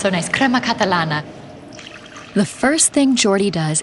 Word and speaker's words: crema catalana: Yeah, crema catalana. Ah, it sounds so nice. Crema catalana.